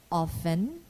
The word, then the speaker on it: often: grissom bristle or whistle it is silent also in often to make the plosive